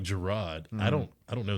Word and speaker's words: Jarrod: i love that man yeah i bet teachers were pronouncing it wrong and everything so that kind of helped everyone yeah everyone mm-hmm syllabus day yeah mr mr jared yeah yeah you know it's jerrod well i like it